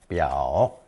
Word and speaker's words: 表: It's pronounced third tone 表 and represented a sleeveless fur vest worn over 裘 on formal occasions.